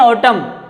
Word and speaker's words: autumn: कौन सी होती है वो, जिसको बोलते हैं ऑटम, AUTUMN, एन साइलेंट रहता है इसमें।